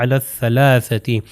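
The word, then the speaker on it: على الثلاثة: میں یہ کہتے ہیں، الف لام ہے، تو یہ اس کو نہیں پڑھیں گے، لکھے جاتے ہیں مگر نہیں پڑھا جائے گا، اس کو اگلے والے سے اٹیچ کر دیں گے جو کہ سا ہے، تو یہ ہو جائے گا علی الثلاثتی.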